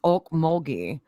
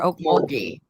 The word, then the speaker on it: Okmulgee: she lives there and it's oak mulgy or Okmulgee yeah that's what I thought because my parents live in Oklahoma in one of those towns that's pronounced very strangely yeah I'm gonna try